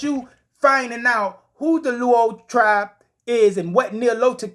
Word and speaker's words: Luo: Nilotic people, or the Luau tribe, or the Luo tribe, the Lao tribe. You understand? Sleek off for my people on the continent if I'm pronouncing that wrong. It's Luo, Luo, but they're Nilotic people.